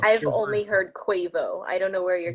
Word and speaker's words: Quavo: At number 5, Intentions by Justin Bieber featuring Quavo. Quavo? It's Quavo. Quavo? Because he was part of the NBA All-Star game, so they said its name Oh. constantly. Okay, then yes. It's Quavo. I've only heard Quavo.